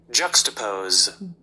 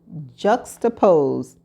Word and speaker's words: juxtaposed: And this is how it's pronounced. Juxtapose. Juxtapose.